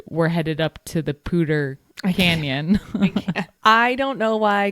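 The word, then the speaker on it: Poudre: one weird and two it's spelled P O U D R E. So please someone explain to me how that comes out to pter.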